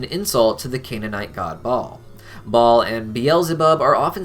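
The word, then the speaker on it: Baal: root of their name ball has also been pronounced as Bell throughout history and bagore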